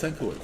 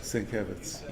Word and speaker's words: Sienkiewicz: And I always thought it was Senkowitz, so it's but I heard you pronounce it. Everybody pronounces it Sankowitz, but it is Sienkiewicz. Sienkiewicz.